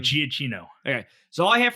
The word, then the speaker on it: Giacchino: So all I have from Michael, how do you pronounce his I last think name? Giacchino.